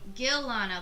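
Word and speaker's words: Ghilana: oh you say yeah Gil Lana like GHI la and a like the H is silent Galano did he leave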